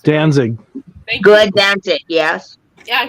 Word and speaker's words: Danzig: The Misfits Glenn what's this last I can't pronounce it Danzig good dance it yes yeah he's actually releasing